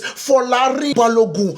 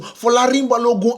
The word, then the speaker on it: Folarin Balogun: Let's say it again so you guys can absolutely understand how to pronounce it. It is Folarin Balogun. Folarin Balogun absolutely scored two goals